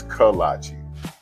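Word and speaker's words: kolache: the great choices, but do not be overwhelmed by how to say it. What the kiche colise like the shoes? No, that can't be right. It's kalachi.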